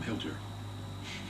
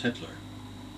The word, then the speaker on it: Hitler: item on Hitler and I mispronounced the name I called him Hilter and the I never forget the teacher who was very good Miss Baker corrected me and said that's Hitler that's Hitler Ralph I old Hitler